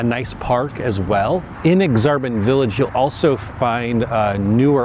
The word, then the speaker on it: Aksarben: Okay, so the next neighborhood we're going to talk about is Aksarben. Yes, that is how it's pronounced. It's actually Nebraska spelled backwards. Right now, I'm in Aksarben Village, which is kind of the commercial district